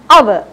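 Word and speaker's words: hour: So it's said as H-O-U-R. Normally we use H as her. We don't say hover, we say our. So here H is silent.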